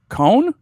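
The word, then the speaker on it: Coan: Hey, tell us how to pronounce Jack Cohn's name, or who's your favorite quarterback? It's Cohn.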